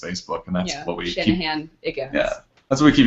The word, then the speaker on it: Shanahanigans: And that's spelled like it sounds. Yeah. S-H-A-N. A-H-A-N. I-G-A-N-S.